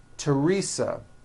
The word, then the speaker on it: Teresa: Although these next words and names are spelled with a TH, they are pronounced as if they were spelled with a normal T, like that. And these words are Thomas, Thompson, Teresa, Thailand, Thames, like the river, Esther, and thyme, which is a spice.